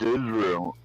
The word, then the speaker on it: Israel: It's pronounced Israel.